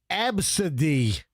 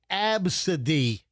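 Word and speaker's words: Abcde: Number one is absid. And it is spelled A B C D E. And it's pronounced absid.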